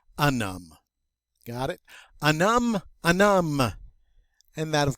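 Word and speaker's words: homme: h this noun and remember h's are silent in french so it's going to sound like a num okay uh because uh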